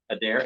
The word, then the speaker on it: Adair: right there let me see here Cheryl miles Adair I hope I said his name right that'd be right Adair a d a i r yeah right if